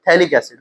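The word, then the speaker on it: phthalic: इसमें पी और ये एच साइलेंट रहते हैं। थैलिक एसिड।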